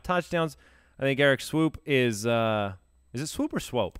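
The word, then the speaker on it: Eric Swoope: I think Eric Swoop is it Swoop or Swope? I think it's Swope. I think it's pronounced Swope, but it's spelled Swoop.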